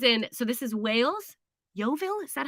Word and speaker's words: Yeovil: so this is in so this is wales yeovil is that how i say it correctly yeah yovil uh and he spotted a man trying to